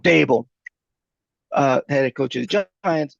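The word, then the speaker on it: Daboll: don't know, it's been reported he and Dabo, the bowl, how do you Brian pronounce Dable. Brian it? Dable. Dable, head coach of the Giants, butted heads.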